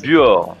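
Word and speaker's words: Buochs: on est alors je sais pas comment on prononce on est à be B u o C H s ah c'est Buor ah voilà Buor voilà on est en Suisse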